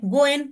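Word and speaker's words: 五円: पाचनको सिक्कालाई शुभ मानिन्छ किनभने जापानी भाषा यसलाई गोएन भनेर उच्चारण गरिन्छ। यो जापानी शब्द गोएन गोएन भनेको चाहिँ हाम्रो लकी है जस्तै सुनिन्छ जसको अर्थ भाग्य वा मौका हो।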